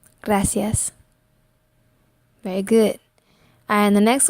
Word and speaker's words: gracias: it's in the beginning of the word and pronounce it like a go so go ah e ah let's put it together gracias gracias gracias very good and the next one big big